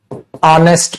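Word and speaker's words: honest: इज अ या एन ऑनेस्ट person ऑनेस्ट person ऑनेस्ट person क्या लिखा बेटा मैंने ऑनेस्ट पर्सन किससे चालू होगा ये ए से एच साइलेंट होता है ना ऑनेस्ट पर्सन ऑनेस्ट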